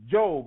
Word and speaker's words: Job: And I ran into the book in the Bible called, they say it was Job, but it's spelled just like job, and I associated the adventures of Job with a job.